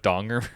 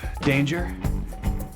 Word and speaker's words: Donger: Did you write down what what donger means? Are you Danger? Jack Danger. It's actually pronounced Donger.